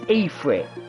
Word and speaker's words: Ifrit: Now, obviously, that Ifrit was blowing out fire, so wouldn't be good. Stand here and do it. There we go. And I called it Ifrit. It's Ifrit.